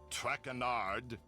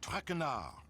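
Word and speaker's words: Traînard: butchered while I eat as for my name not track andard it is Jean Michelle trenard Jean Michelle trenard TR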